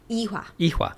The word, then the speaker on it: Ewha: So then you go to, I'm probably going to pronounce this wrong. Ewha? Ewha.